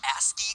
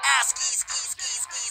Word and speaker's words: ASCII: ASCII codes for different letters of the alphabet. For those of you who don't know, ASCII codes, or ASCII codes as it's properly pronounced, ASCII, The cringe is so real in that one.